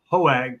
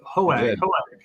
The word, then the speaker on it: Hoag: We are here with Jeff Schultz, who's a partner at Foley Hoag. Did I get that right, Jeff? Hoag.